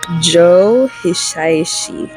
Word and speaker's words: Joe Hisaishi: Joe Hisaishi.